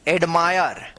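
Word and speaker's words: admire: जैसे यहां पे फायर फायर ए डी एम आई आर ई एडमायर add Mayar फायर एडमायर। तो ये रहा आई का उच्चारण वाले सभी वर्ड्स।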